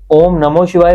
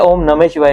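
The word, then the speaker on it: ॐ नमः शिवाय: पूछ रहे है कि ओम नमो शिवाय होता है या ओम नमः शिवाय होता सही उच्चारण क्या है ओम नमः शिवाय ओम नमः शिवाय नम के साथ बिंदी नमः शिवाय ठीक है जी तो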